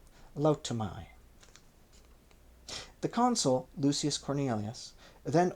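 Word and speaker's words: Lautumiae: out by Manius Assilius and were thrown into Laaya spelled L A U TU M I A E Liay.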